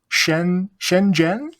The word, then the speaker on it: Shenzhen: Okay, so the city where you are, hmm Shenzhen, is that right? Yeah, you pronounced it.